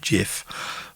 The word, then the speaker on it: GIF: even the guy who invented the file format pronounces it jif but as mike tango charlie says don't even